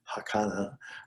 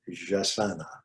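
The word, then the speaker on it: jacana: When I first saw that word, I thought somehow it might be Spanish, and I was thinking it would be pronounced Hakana or Hasana, but it is jasana according to reading.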